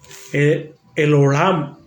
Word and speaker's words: El Olam: La otra es el Olam o Elohim, que es el Dios eterno. Génesis 21:33. El Olam, así se escribe, E-L-O-L-A-M, el Olam, el Dios eterno.